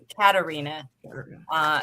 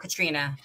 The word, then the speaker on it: Katarina: I think it's pronounced Katarina, not Katrina.